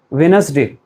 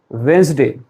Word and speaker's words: Wednesday: Millions of Indians say it like this: Wednesday. Right? How do you say it? Wednesday or something else? Wednesday is wrong pronunciation and the correct one is Wednesday.